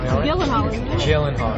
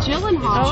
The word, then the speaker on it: Gyllenhaal: Mr Gyllenhaal and yes that is how you pronounce his name you want me to say it for you jillen Hall jillen hall jillen Hall everyone it's jillen Hall before I get to